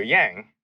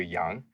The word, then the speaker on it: Yang: But then you have people like Andrew Yang, who's really supposed to be like Andrew Young.